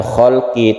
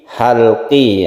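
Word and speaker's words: حلقي: yang ini artinya tenggorokan jadi jangan sampai salah untuk pengucapannya misalnya ada hukum tajwid izhar khalqi Bukan khalqi tapi halqi ya izhar halqi itu contohnya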